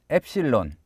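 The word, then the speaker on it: ἒ ψιλόν: 엡 실론 입니다 .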